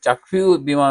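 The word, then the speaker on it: Kyaukphyu: itself has a seaport চাকফিউ যেটা চাকফিউ বলে হলো তাদের লোকাল উচ্চারণে চাকফিউ সমুদ্র বন্দরে সেখানে জাহাজ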